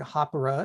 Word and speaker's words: Hāpara: There's a little trill in the R that's unlike anything I've experienced, say, in Spanish or Italian or the Romance languages, that I can't quite get.